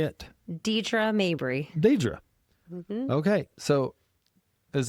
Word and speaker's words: Deidrea Mabry: Now, I'm a little nervous because I'm afraid I'm going to say your name wrong. So how do you say it? Deidrea Mabry.